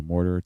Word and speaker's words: mortar: Heavy first syllable, weaker second syllable. Once you have that, then we can start adding in our actual vowels. So, mortar, two vowels. We have an or sound and then an sound.